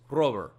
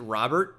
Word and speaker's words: Robert: sudden but yeah it's it's Luis Rober that's how you say it in Cuba and during his his uh introductory press conference like is it Robert which obviously it isn't he's like I I